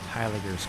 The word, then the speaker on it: Heiligers: This is what we call Heiliger's curve, CP Heiliger's. It's pronounced Heiligers. It's Dutch.